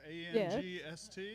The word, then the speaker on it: angst: familiar with the word angst a-n-g-s-t yeah that's how it's pronounced in german we call it angst